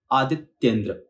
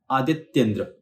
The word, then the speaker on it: आदित्येंद्र: ये एक उदाहरण क आदित्येंद्र में दो शब्द बेसिक लिए हैं आदित्य और इंद्र तो हमें इसको इसी तरह से दिमाग में रखकर और उच्चारण करना है दिमाग में रखना है लेकिन उच्चारण करते वक्त हमें इसे जोड़ देना है और जोड़ते वक्त बीच में हल्का सा एक पॉज लेना है आदित्येंद्र आदित्य इंद्र आदित्येंद्र